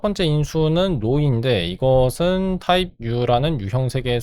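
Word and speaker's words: ρ: 이게 파이인가 로인가 피인가 헷갈렸어요. 영어로는 파이라고 읽는 게 지금 한국어 사전 보시면 P라고 읽게 돼 있어요. 아마 P가 그리스 발음이 아닌가 싶습니다. 근데 이거는 그게 아니고 P가 아니고 로예요. 로.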